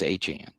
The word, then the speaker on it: Etienne: And I say Achane for those who don't know, Travis Etienne said the correct way to pronounce Etienne is Achane.